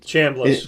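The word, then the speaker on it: Chambliss: Chamblas.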